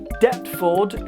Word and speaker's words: Deptford: So, following on from that logic, Deptford should be pronounced Deptford. Billy, I swear to God, I'll come down there and I'll do some pretty bad stuff. The P is silent.